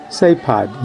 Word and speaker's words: CEPAD: So, CEPAD has become an umbrella organization set up as the Nicaraguan Protestant Council of Churches, CEPAD, pronounced CEPAD in Spanish, with many subsidiary activities,